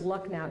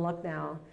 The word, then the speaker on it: Lucknow: There's a school in India, the City Montessori School in, I believe it's pronounced Lucknow, India.